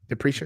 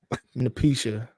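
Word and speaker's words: Napheesa: Patricia. How you pronounce it? Yeah. Napricia? Okay. That's what I thought it was. You know. Oh. Napisha.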